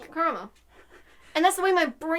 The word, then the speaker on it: Karamo: It's the way I have to physically force myself to say his name Karamo, not caramel, because my mind immediately